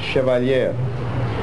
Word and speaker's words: Chevalier: Center Auditorium grant funds for the, do you pronounce it Chevalier? Chevalier.